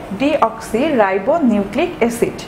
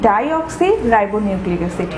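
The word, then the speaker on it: ডিঅক্সিরাইবোনিউক্লিক অ্যাসিড: তোমরা লক্ষ্য করে দেখবে আমি এখানে যেটি বলেছি সেটি হচ্ছে ডিঅক্সি রাইবো নিউক্লিক অ্যাসিড, আমি কিন্তু বলিনি ডাইঅক্সি রাইবো নিউক্লিক অ্যাসিড। তোমরা যদি এটি উচ্চারণ করার ক্ষেত্রে বলে থাকো যে ডাইঅক্সি রাইবো নিউক্লিক অ্যাসিড, তাহলে কিন্তু একটি এক্সট্রিম লেভেলের ভুল হয়ে যাবে।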